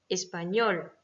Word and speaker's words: español: Exemple, professor, espagnol. D'accord? Donc là, c'est sor et ñol qui sont accentués.